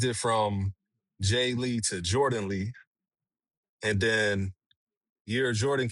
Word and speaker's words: Jordn: So, what I did was spell So, my name is it's spelled J O R D A N. But what I did was I just took the A out.